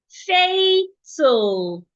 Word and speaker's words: fatal: Fatal. Fat. A fatal. Not fatile. Stomach.